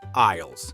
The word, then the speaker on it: aisle: Those are aisles spelled A I S L E. The S is silent.